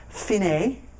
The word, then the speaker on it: fine: It's Italian, though. It's not an Americentric thing. Then the next line, DCL, and it looks like fine, or DSL fine, but it's actually pronounced fine, and that means go to the end.